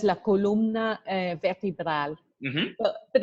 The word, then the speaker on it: columna: Columna. Yeah, so it's not columna, which is kind of how we might pronounce it in English, but we really need to make the O and the U.